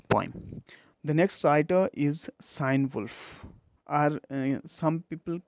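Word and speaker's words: Cynewulf: peerless in this point the next writer is sign wolf are some people pronounce it guinea wolf but the common and the prevalent pronunciation is sign wolf and the time period is 8th century much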